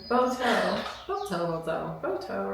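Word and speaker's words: Boato: are oh the boto it's b o a t o have to get the correct pronunciation boto boto boto boto right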